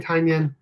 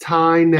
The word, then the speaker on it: Tynan: So because everyone says Tinyan. Yeah. Here, just call him James Onion. Tynan. Tynan. There you go. Pronounced Tynan.